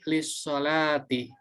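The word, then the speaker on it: للصلاة: ust.abi Hai kalkulus tadi Lee dengan assolatu menjadi lissholati ya kemudian cara penulisannya ke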